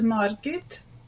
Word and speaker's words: Margit: Mar Sig Sig so Margaret is marget it's the lady's name Margaret marget and island is siget sigat Sig so